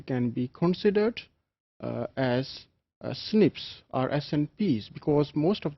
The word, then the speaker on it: SNPs: single nucleotide polymorphisms or snps commonly pronounced as Snips they are single base